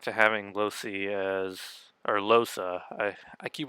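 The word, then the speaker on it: Lohse: I swear there are some characters who say Losi but she herself said Losa so that's how it's supposed to be pronounced I'll take her own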